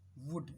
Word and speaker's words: would: ऐसे एक शब्द होता है WOULD, वुड, इसको हम क्या पढ़ते हैं, वुड, इसमें एल साइलेंट है, वुड।